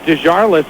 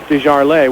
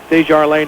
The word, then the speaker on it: Desjardins: to the French pronunciation, Desjardins, which is probably how I would have pronounced it originally, but I was, told it was Desjardins. So we'll go with Desjardins now.